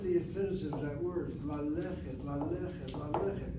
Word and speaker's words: ללכת: And look at the infinitive of that word, ללכת, ללכת, ללכת. Notice how I'm pronouncing it. ללכת, the sego on the aleph is a short vowel open syllable.